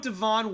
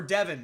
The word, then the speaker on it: Devin: I'm gonna go with Devon Withers or Devin not Devon I always do that whenever it's spelled like that I'm so sorry Devin